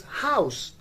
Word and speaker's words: house: words we have and where the h is pronounced that is house h o u s e house while on